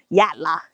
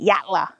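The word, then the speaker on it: Yatala: Like Y A T A L A. Yatla is how they say it. Yatla. Yatla. We don't really do T's like water. Water. We Australians don't really pronounce T's in the middle of words.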